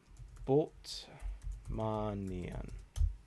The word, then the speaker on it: Bultmannian: I'll pronounce that. I'm so tired. Bultmannian.